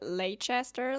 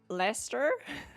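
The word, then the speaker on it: Leicester: Is it Lchester? Leester? Sorry. Um, I think it's Leester. Um, but you love Glasgow, Aberdine, Manchester, Liverpool, Leadeds. My fiance is literally from Scotland. And I think this alignment is like it's so crazy cuz you guys and like you keep writing words that are longer than how you pronounce them cuz now you say it's lester.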